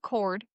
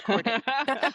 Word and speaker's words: Corday: And I'm just now realizing it's not cord. It's Corday. I just fine.